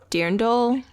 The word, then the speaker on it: dirndl: It's like a dirndl. Okay. Something like that. DIRNDL.